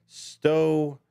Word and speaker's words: stochastic: So, I keep pronouncing stochastic terrorism as stochastic and putting that extra T in there. Stoastic terrorism. And that's what we're going to talk about today.